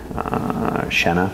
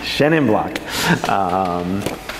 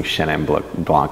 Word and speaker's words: Chenin Blanc: people have now grafted shenna for me or sorry I can't believe I pronounced it with a French accent that I want stricken from great Chenin Blanc's thank you that's the